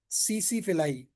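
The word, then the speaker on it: tsetse: लेस्मिनियासिस का जब भी वेक्टर पूछा जाए सैंड फ्लाई और ट्रेपनोसोमियासिस का पूछा जाए सीसी फिलाई। टी साइलेंट है यहां पर।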